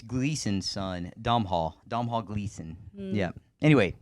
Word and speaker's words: Domhnall: It's Gleason's son, Domhnall Gleason.